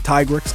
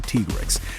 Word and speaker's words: Tigrex: Me personally, I prefer saying Tigrex because, Tiger T-Rex. But I've been told in the past that I'm pronouncing it wrong. It's actually Tigrex.